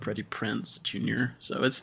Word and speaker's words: Prinze: I thought it was Freddie Prince, Prince, and it was not until this movie that I realized that it was Prinze.